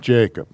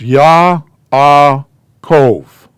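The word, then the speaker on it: יעקב: here or whatever jacob his name's not jacob it's yah ah cove okay all right have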